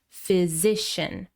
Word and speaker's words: physician: Next we have physician. Also stress on the second syllable. Physician.